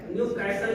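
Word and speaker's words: Newcastle: अब इसका एक दूसरा नाम और है, राजा हिंदुस्तानी पिक्चर बनी थी, इसको हम कहते हैं न्यू कैसल। इट्टी साइलेंट होता है। न्यू कैसल के नाम से इस रोग को हम जानते हैं।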